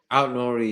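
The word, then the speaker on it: Nouri: The names that I had on my list for left back were Nuno Mendes, the Wolves guy, how do you pronounce his name? Nori. Nori, yeah.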